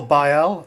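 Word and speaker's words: Baille: taffy fenu uh cyril cyril bail it's like braille but without the r cyril we've got a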